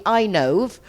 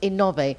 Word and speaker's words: Innove: In English, that would be Inove, but in Spanish, it's pronounced Innove, and it's renewable energy, right, David?